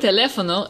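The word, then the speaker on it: teléfono: o H drew hula the word telefono is as drew hula because the emphasis is on the third to last syllable now let's try the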